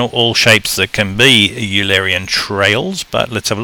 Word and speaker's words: Eulerian: looking at you Larry in walks or sometimes pronounced Alerian walks I'm gonna say you Larian because I think most students have just pronounced it phonetically although the guy was printed a guy was based on his is pronounced Euler apparently if some reason or other funny name anyway so let's call it Eulerian because I think 98% of students will pronounce it that way and it gets annoying